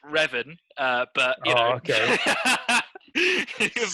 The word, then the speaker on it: Revan: play raven then yeah raven will be my favorite pronounced revan uh but oh okay